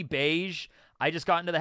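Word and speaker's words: Bege: long time fan here why do you pronounce Capone's name as Beijing instead of beige as in the sub and dub yeah it's supposed to be beige I just got into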